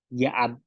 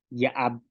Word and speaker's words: ya'ab: Ik, al, ak, kai, yaab, ayin. ¿Ok? Entonces estas son las pronunciaciones de la I y la glotal.